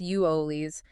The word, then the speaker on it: Euless: Bedford, Hurst, Euless, pronounce U O Lees, North Richland Hills, Haltom City, and Watauga.